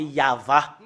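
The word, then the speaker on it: יהוה: le fait de prononcer le tétragramme Yod, He, Vav, He, c'est ça qu'on le prononce, c'est Yahva.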